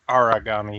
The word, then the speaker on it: Aragami: And, of course, Eli, you will correct me on that pronunciation because I feel like I butchered it. It's just Aragami. You are only off by one sound, so it's not that big a deal.